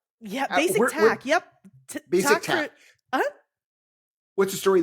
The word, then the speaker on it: BasicTaq: Is that, am I pronouncing it right? Yeah, BasicTaq.